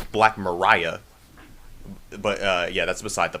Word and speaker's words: Black Maria: So supposedly, this one website said that it's supposedly pronounced Black Mariah, but yeah, that's beside the point.